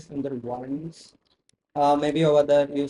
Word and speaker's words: Sundarbans: Otherwise, if you're taking this spelling at least in English, it will be Sundarbans.